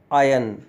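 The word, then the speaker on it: iron: इसे आयरन कहा जाता है। जबकि इसका सही उच्चारण आयरन होता है। आयरन आयरन आयन आयन इसका मतलब कपड़ों में स्त्री करना होता है।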